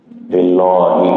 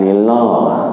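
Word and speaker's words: لله: itu yang enggak boleh lillahi lillahi lillah itu enggak boleh kita bukan Lilah kalian sebab kan dia tarkik kalau tarkik kan berarti tipis semua yang berkasroh dibaca tipis kecuali fathah sama Doma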